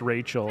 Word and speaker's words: Rochelle: covered team duncan because her name is spelled like rochelle but pronounced rachel and her mom was